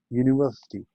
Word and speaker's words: university: University, a university, ये हम क्यों लिखते हैं? Because with a consonantal sound u, yu, इसमें yu की साउंड निकलती है.